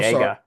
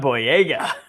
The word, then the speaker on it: Boyega: Boyega. John Boyega. I am so sorry for mispronouncing that name.